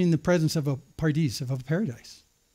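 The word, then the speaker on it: פרדס: A pardis is how you say it in Hebrew.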